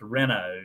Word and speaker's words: Reno: I tell people it's spelled Reno, but it's pronounced Reno.